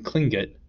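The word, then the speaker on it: Tlingit: was a klingon indian pronouncing klinget proudly with the clicking of his tongue as is of saying clean kit he was built like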